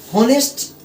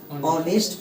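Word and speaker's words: honest: होनेस्ट नहीं पढ़ेंगे, इसको बचपन से पढ़ते आए, क्या ऑनेस्ट पढ़ते आए। क्या आए हैं, ऑनेस्ट।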